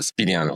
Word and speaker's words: Spineanu: So all right but pronounce your last name for us so at least we hear it correctly. Uh Spaniano Spinu and and so with a rolling aru rad.